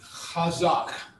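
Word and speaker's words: חזק: or not it's pronounced hazak remember the ch underline is the clearing your throat we just looked at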